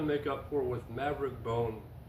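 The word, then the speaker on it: Bohn: Something I still have to make up for with Maverick Bone. Not Bone, Bon. I can't remember how to pronounce his name. B-O-H-N.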